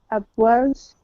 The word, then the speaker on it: upwards: Upwards. No, just the first syllable is stressed.